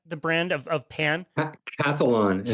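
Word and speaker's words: Calphalon: I'm gonna I'm gonna mess up the brand Califon is is that the brand of of pan cathlon is how it's pronounced perfect okay so I had purchased their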